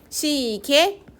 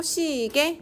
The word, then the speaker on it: 시계: 개집 단모음으로 발음해도 되고 시계 이중모음으로 발음해도 되고 시계 단모음으로 바르면 되고 계시다 해서 이중 모음